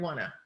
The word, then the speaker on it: want to: hear more clear pronunciation but the phrase want to is something you'll hear out of brits out of most americans you say you hear wanna okay yeah one thing